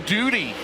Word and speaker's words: Duty: And I said, it's pronounced Duty. He said, yeah, like Howdy Doody. And I go, it's not spelled like it. D-U-T-Y, so. Like duty free.